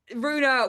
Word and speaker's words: Rue: So I was like, well, Rue's a word, like Rue the day. And in France, no problem. Everybody in France can pronounce it first time because it means road. So Rue, they say Rue all the time.